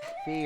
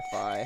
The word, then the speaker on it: Fi: Fee or Fi, however it's pronounced. I always called her Fee.